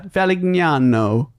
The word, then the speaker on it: Valignano: Because no, we're no, hitting the G and then the GN. Yeah, Valignano.